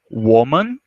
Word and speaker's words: woman: Quando a gente fala de mulher e mulheres, a pronúncia tem uma variação. A primeira você vai falar woman, repetindo, woman, e no plural, women, repetindo, women, tá?